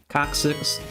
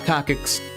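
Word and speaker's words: coccyx: Coxx to sit on that is how you pronounce it by the way coxic not cockx it's coxic um but yeah or at least that's what they told me in anatomy class all right so I'm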